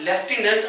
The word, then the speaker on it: lieutenant: पर इस तरह से याद करने का तरीका तो ये होता है कि भाई लेफ्टिनेंट आपके पास एक ऐसी स्पेलिंग है जिसमें एफ नहीं आती है, पर प्रोनाउंस क्या किया जाता है?